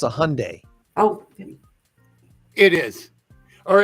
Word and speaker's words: Hyundai: pretty sure it's a Hyundai oh it is or as my sister calls it hyand Hy Lori it's the why is silent it's Hyundai Hyundai Hyundai whatever but it's not Hy